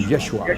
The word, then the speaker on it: Yeshua: the Greek language so we have no idea as to how his name might have been pronounced what we do have is a close attribution Which is yeshua yeshua actually means the saved